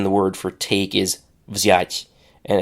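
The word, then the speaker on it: взять: For example, in English, it's common to have a vz at the end of a word, but not at the beginning of a word.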